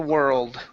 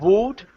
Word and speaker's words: world: the road okay now instead of wood it's were old world okay we had all the luck in the world there you go yes it's too sounds too sounds with world okay let's go to